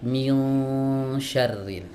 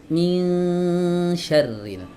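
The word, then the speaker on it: مِنْ شَرِّ: Tidak boleh dibaca begini teman-teman. minyarrin ini sudah ikhfa tapi ikhfanya ditebalkan. Nah, di situ letak salahnya. Jadi bukan salah ketika dia membacanya dengan ikhfa bukan tapi membacanya dengan tebal. Min syarril harusnya min syarril ya. Dibaca tipis min dengan m. Nah, kan beda suaranya ya.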